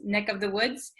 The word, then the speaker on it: neck of the woods: of the woods, usually this of the V sound kind of disappears because V's are hard to pronounce. So we tend to say neck of the woods. Neck. This of becomes just the vowel sound.